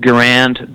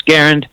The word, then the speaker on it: Garand: Some people pronounce it Garand, but I learned that the correct pronunciation for it's Garand.